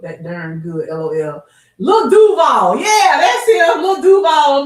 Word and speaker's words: Duval: That's how they say it too. You gotta say it like that. Duval.